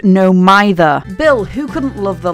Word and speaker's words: No Mither: Side note, it's pronounced no mither.